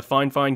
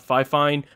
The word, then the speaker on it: Fifine: a look at the fine fine k683a and that's how the manufacturer actually told me to pronounce their brand name not fifine but fine fine anyways we'll do a